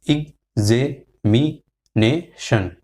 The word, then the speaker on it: examination: So for instance, we say examination, but it is X is broken out into gurzer or cursor. So your hard sound gurzer. So it is examination.